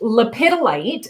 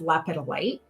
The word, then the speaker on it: lepidolite: you pronounce that so lepidolite is how i pronounce it uh it i have heard it pronounced leopard light it's there's i mean